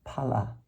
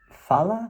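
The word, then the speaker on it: phala: Palam they say that the fruit Pala I believe it's it might be fala but I believe it's Pala because that's that's how you would you know you pronounce it according to Sanskrit the rules of Sanskrit pronunciation Pala but um I've heard I've heard FAA for pH you know the the F I'm not sure if there's just two ways of saying it or not but anyway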